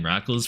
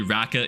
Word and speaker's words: Rackals: up in people's chats, they'd call me Raqqa is live. Like they just read the name wrong cuz the Looked too much like an I with live after it, I guess. And Raqqa is live. But nope, not not quite. Just Rackles live.